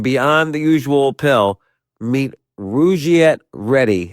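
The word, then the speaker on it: Rugiet: But if you're looking for something beyond the usual pill, meet Rouette Ready. And rouette is spelled r u g like rug and i t.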